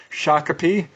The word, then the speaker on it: Shakopee: There are definitely some cases in Shakopee. Did not know that's how you pronounce that city, but I looked it up